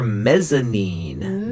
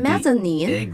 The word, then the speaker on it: mezzanine: It stands for mezzanine. Mezzanine. How do you spell it?